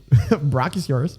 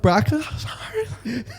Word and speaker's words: Brachiosaurus: Brachiosaurus. It's a Brachiosaurus.